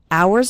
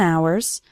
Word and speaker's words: hours: hours and hours remember the H in the word hours is silent so don't pronounce it at all hours and hours and the and becomes